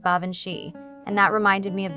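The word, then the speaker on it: Baobhan Sith: Baoban Sith, he pronounced it like Bavanshi, and that reminded me of the name Banshee.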